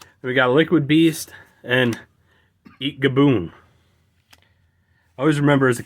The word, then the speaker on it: Eatgaboon: We got Liquid Beast and Eat Gaboon. I always remember as a kid, I always thought there was an additional A in that and would always pronounce it as Eatagaboon instead of Eatgaboon.